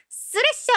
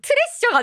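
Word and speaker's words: Thrasher: 훨씬 많이 돌아다녔어 우리나라에 그러니까 티 발음만 남아가지고 트레셔 된 거야 근데 원래 발음은 쓰레쉬가 맞다 쓰레 쓰레쉬는 굉장히 타협이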